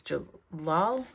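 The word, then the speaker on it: Celal: Anyway, his name is Jalal. Which, it's funny, in the translation it's spelled with a J, but in the Turkish language, this letter that we call a C is pronounced like a J.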